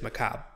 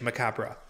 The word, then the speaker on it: macabre: a damn all right according to wikipedia the u.s pronunciation is macabre or uk is macabre so it's more it sounds like a us uk thing like aluminum aluminium